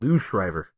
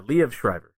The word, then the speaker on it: Liev Schreiber: of parts, but I don't know how you pronounce his name, but I think it's Liev Schreiber. I think it went Lou Schreiber. Is that what you said? Lou Schreiber? No. Liev. Yeah, Liev Schreiber.